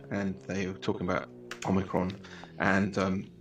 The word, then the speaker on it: omicron: p and he goes well it is omicron not omicron because uh you need to brush up on your ancient greek and there's two letter o's in the ancient greek alphabet there's